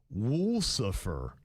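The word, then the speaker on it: Wolsefer: It was Wool Suffer." Wool Suffer? Wool Suffer. W O L S E F E R. She phonetically put it, it would be Wool Suffer.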